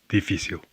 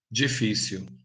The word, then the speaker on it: difícil: In this word, you can hear the Brazilian G sound at the beginning, while in the European word it's D. You can also hear the Brazilian L as it's pronounced at the end of a word or syllable, like w.